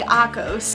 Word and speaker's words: Akos: This book is about two different main characters named Syra and Akos. That's how you say his name, but I'm gonna say it like Akos.